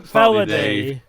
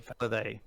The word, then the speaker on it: Felidae: Felidae. Felidae. It's No. it's the English pronunciation of a Latin word.